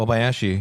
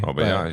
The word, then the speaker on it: Obayashi: Obayashi. Obayashi.